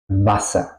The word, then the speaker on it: Wasser: La A se pronuncia aquí corta. ¿Por qué? Porque tenemos un doble consonante después, ¿ok? Los consonantes dobles tienen el efecto que la vocal antes tiene que ser corta, ¿ok?